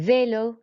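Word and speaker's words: vélo: sound Rafi and then Velo we just raise our voice on the e because it's got the accent on that equal to F uppity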